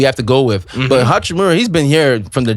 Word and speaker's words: Hachimura: Hachimura, they go as far as how he performs.